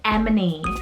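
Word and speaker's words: Emeney: favorite name categories then i have the name emini spelled e m e n e y lots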